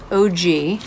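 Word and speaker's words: Ogee: azalea this is a new brand OG like original gangster OG but it's spelled og EE and this is azalea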